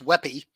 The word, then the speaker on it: WebP: do this all right webp or unofficially pronounced weapy is an image format introduced by google developers around 2017.